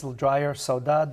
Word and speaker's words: saudade: Saudade. Saudade. Saudade. Saudade. Yeah. Portuguese sound, it's a little drier. Saudade. The Brazilian have a slight G. Just a touch. teeny bit. Saudade. They sing more when they speak.